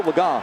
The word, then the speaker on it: Legas: So the guy who was number 3, Cooper Legas, and yes, I know we pronounced the name earlier a different way, but it's Cooper Legas, who had never thrown a pass.